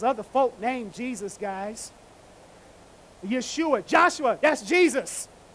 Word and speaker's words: Yeshua: Yeshua, Joshua, that's Jesus. It's just, and we just say it in an English American way. We know it's Yeshua or Yeshua. We know that. But we just say Jesus.